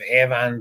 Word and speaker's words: Avon: We've got a town up by us that's spelled that way, and it's pronounced Avon, so we all pronounce it Avon up this way.